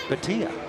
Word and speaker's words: Bhatia: One of my favorite PGA Tour golfers has the same last name, but he pronounces it Bhatia.